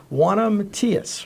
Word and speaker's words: Juana Matias: guest is congressional candidate Juana Matias, right? That's I right. don't say it like you do. Pronounce it like I love the Spanish accent.